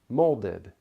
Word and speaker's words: molded: makes an unstressed syllable the vowel sound for many unstressed syllables is the schwa sound but the last syllable of molded or protected does not really have the schwa sound we don't say molded or protected the vowel sound is closer to a short I found molded protected listen